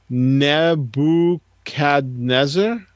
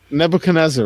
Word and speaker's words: Nebuchadnezzar: game and it is naboo CAD Nezzer knee bub cantonese ER is that is pronounced no never cadet sir Nebuchadnezzar right that's what I